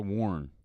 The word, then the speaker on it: Warren: or Warren it's a Warren it's a Warren Warren some some people add